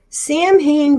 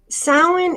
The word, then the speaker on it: Samhain: I'm going to talk about all right so Sam Hayne blessings Sam hey pronounce wrong sound okay Salin is a wonderful tradition it's New Year's again